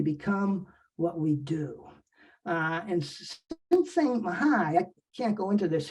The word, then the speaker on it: Csikszentmihalyi: I think it's pronounced Csikszentmihalyi.